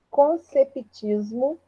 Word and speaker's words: conceptismo: Conceptismo, o P é mudo, tá? Conceptismo.